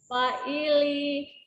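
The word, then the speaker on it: فَاعِلِ: Fa'ili. Fa'ili, fa-nya panjang, ada alif sebelumnya fathah.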